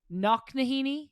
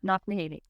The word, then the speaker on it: Knocknaheeny: You grew up in a town called Knocknaheeny? Wow, I'm impressed. You were able to pronounce that like perfectly. That's true, yeah. Knocknaheeny.